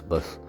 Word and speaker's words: bas: Pronounced as "Bas."